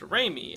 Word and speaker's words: Reimi: summer of 1999 though araki chose her name to be pronounced reimy instead of as suzumi likely in reference to the director that he enjoys the work of that being sam raimi who at the time